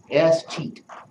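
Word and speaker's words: escheat: And that's called a sheet. S-cheat. That's how it's pronounced.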